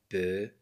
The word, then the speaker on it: peu: E U se prononce E. Je dis un peu le je.